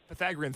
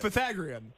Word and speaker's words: Pythagorean: Pythagorean. That's what I'm saying. No, it's not. Pythagorean theorem. You're making it rhyme with Korean, doesn't it?